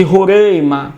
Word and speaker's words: Roraima: com território do de Roraima não é a pronúncia em alguns lugares do Brasil é Roraima Ok mas eu falo rorem Perdoai aí a o sotaque de São Paulo enfim 160.000 km